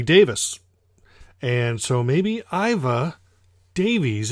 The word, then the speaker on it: Davies: could be wrong because Ray Davies as we call him in America is actually ray Davis us Americans take DAV IES as Davies well guess what Ray Davies is actually pronounce ray Davis and so maybe IVA